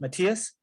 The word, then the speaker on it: Matthias: Here, Now, Matthias or Matthias? Matthias? Matthias, yeah. And how do you say your last name?